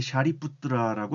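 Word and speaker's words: Śāriputra: 원래 이 인도말 발음은 이제 샤리푸트라라고 합니다.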